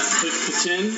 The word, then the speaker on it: poutine: We just got poutine. That's the official pronunciation.